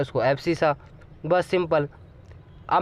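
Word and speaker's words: abscissa: अब जोन सी स्पेलिंग मतलब देखना देख लो, एब्सिसा ही बोलते हैं।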